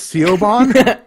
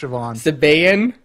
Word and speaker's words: Siobhan: I called and it was all is this seal bomb it's it's pronounced Siobhan I was like are you are you sure